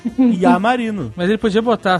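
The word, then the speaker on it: Iamarino: Eu achava que era Lamarino. Pronunciado assim na colação de grau. Peraí, não é Lamarino, não? Não, é um I maiúsculo, que é só um traço. IA Marino.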